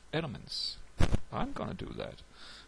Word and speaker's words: LMMS: called elements so it's spelled l MMS but pronounced elements I'm going to do that I like it